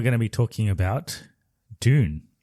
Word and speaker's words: Dune: a British pronunciation so the way we say it which is June which sounds like June the month June is the British pronunciation and then this is